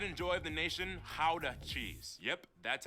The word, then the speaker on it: Gouda: the pride and joy of the nation, Gouda cheese. Yep, that's how you pronounce it, guys.